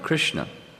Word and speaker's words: Krishna: just this wonder of krishna what what is this name of krishna it's two syllables krish and not i mean if you